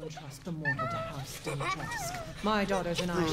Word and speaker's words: Dimitrescu: Pero se supone que se pronuncia Dimitrescu.